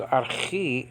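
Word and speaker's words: ἀρχή: okay uh the Greek the Greek word known as or pronounced as Archie in a modern Greek has this letter okay but there is no salt there's no hard breathing marker there's a soft breathing marker I should say Radha so it's not hot it's ah not in the word harmattia which means sen okay that has a rubbery marker so it's pronounced ha even though you don't see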